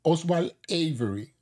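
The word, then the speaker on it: Oswald Avery: en plena Guerra Mundial oswal avery o oswal avery sería la pronunciación correcta demostró que la molécula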